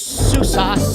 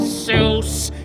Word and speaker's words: SUSE: Most people mispronounce it. They try to call it SUSE, but it's SUSE. Yes, SUSE. Now say it with me, SUSE. It starts like Sue, that girl you knew,